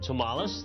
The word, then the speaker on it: Tomalis: switchboard in downtown Harrisburg and asked for Ron Tomales the operator as us to spell it t o m a l i s